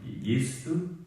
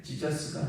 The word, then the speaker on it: 예수: 거기 근데 히브리어로 예레미야 예레미야 예레미야 거의 그래서 한글이 참 어 뛰어난 그런 어 예수도 예 지자스가 아니라 예수예요. 예수 예수 그래서 그 예수라는 뜻은 어 하나님이 구원하신다.